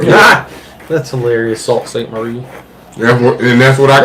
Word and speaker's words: Sault Ste. Marie: Charlevoix and Sault Ste. Marie.